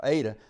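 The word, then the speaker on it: Adah: the memory of ada how you need to pronounce how i need to pronounce that now aydah the wife of of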